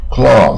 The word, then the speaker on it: cloth: 布啊，衣料啊，也可以当桌巾啊，餐巾 cloth，你看就不一样，它就不是欧啊。